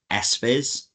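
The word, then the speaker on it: SFIS: flexible innovation support or sfizz. It's good to pronounce the s first because siss is quite difficult to say.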